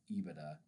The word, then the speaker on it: EBITDA: Ebida coverage. EBITDA is pronounced IBIDA even though it's like EBIT DA kind of thing, right?